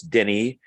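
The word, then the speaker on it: Denis: um and uh uh even though his first name looks like dennis you don't pronounce the s so it's denny um val valenu so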